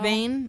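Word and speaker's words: Vane: sun goes down and Van is how you say it I see him vain I don't know I said Bane as well vayne okay yeah vayne is like you should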